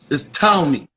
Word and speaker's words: Ptolemy: He was succeeded by Ptolemy, Ptolemy I, Ptolemy the First. You'll hear people say Ptolemy, but the P is silent. That's like saying pneumonia. It's not pneumonia, it's pneumonia. It's Ptolemy, Ptolemy the First, right?